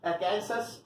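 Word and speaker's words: Arkansas: सो इट्स अर्कैनसस AR, Connecticut CT, Illinois IL, Louisiana LA, Massachusetts MA, Mississippi MS, new Hampshire NH, Ohio OH and Tennessee TN।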